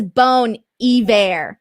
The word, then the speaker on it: Bon Iver: Taylor Lane says it's Bon Iver. Yeah, see, so I was right this time.